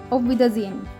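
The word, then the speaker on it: Auf Wiedersehen: वि दर जे एन तो actually H को silent बहुत साइलेंट हो जाता है ऑफ विद अजन ऐसे हो जाता है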